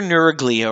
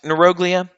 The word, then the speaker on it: neuroglia: So they're your neuroglia or neuroglia. I used to always say neuroglia because in neuroscience it's all neuro. But it is actually technically properly pronounced neuroglia.